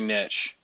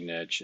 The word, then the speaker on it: niche: Well, first things first, that's very niche or niche if you depending on how you say it, but I say niche.